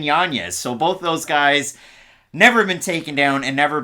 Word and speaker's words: Yanez: he's tied there with Adrian it's pronounced janeez Adrian Yanez so both those guys